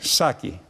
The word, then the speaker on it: Саки: Первое. Саки. Ударение на последнем слоге.